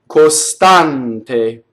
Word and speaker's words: costante: First of all, the S. The S poses a problem whenever we sing. When I speak, I can say costante. You see the S is kind of hissed on either side of the syllable.